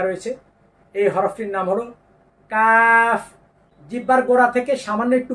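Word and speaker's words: ق: এই যে দেখেন কফ কণ্ঠনালী থেকে বের হতে হবে কণ্ঠনালী থেকে গলা থেকে বের হতে হবে আলা জিহ্বা আছে না আমাদের জিহ্বার গোড়া জিহ্বার গোড়া তার বরাবর উপরের তালুর সঙ্গে লাগিয়ে এই একটি হরফে উচ্চারিত হয় কোনভাবে যেন এরকম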